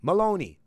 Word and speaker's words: Maloney: Maloney. Oh, it's Maloney. Oh, it's just the way it's spelled. It kind of threw me off there a little bit. Yeah, so it's Maloney, right?